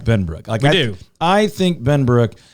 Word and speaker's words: Benbrook: How's he going to pronounce it? Benbrooky.